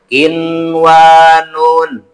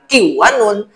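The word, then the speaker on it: قنوان: Contoh selanjutnya, kinwanun, nun ketemu wau. Membacanya jangan kiwanun, tapi harus kin wanun.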